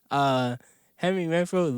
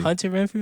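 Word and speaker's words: Hunter Renfrow: I'm gonna put the highlights in the clip, but literally, Henry Renfro literally slipped. You even say his name correctly. Hunter Renfro.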